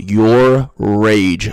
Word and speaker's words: Yourrage: By the way, it's pronounced your rage.